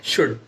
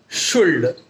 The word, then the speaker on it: should: कई बार हम प्रोनाउंसिएशन में गलती करते हैं, हम एल को जो कि साइलेंट है उसे भी पढ़ देते हैं, रीड कर लेते हैं, जैसे कि कुल्ड, शुल्ड, वुल्ड। बहुत सारे बच्चों की ये प्रॉब्लम्स होती हैं, तो आप उसे ठीक करें, वहां पर एल साइलेंट है उसे पढ़ना नहीं है, शुड, वुड, कुड ऐसे पढ़ना है।